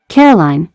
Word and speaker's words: Caroline: as a Nantucket afternoon Caroline he says emphasis on the last syllable which he always pronounces as bleen hey she says she